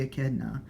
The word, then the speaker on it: echidna: my sonic video on people like it's obviously echidna and looking back on it you're right guys